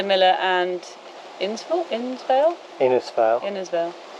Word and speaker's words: Innisfail: and install insale innisfail innersville you've got to say it like it's vale vale pretty sunny campsite it's